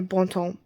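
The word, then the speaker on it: Bon Temps: in a small town called Bontemps. Or Bontemps. It depends on how you say it, I think.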